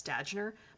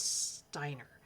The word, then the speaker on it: Štajner: I think it's Steiner. A J in um is she from Czechoslovakia or Poland? I can't remember. Um but I think it's pronounced as a Y.